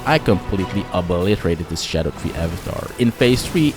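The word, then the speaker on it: Scadutree: build a great example for this is the shadow tree Avatar and yes is apparently pronounced as Shadow tree and not skatter tree who knew right the track of this thing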